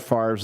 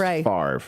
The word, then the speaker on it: Favre: Uh, don't there are people out there who insist that Brett Favre's last name is pronounced Favre when it's really Favre.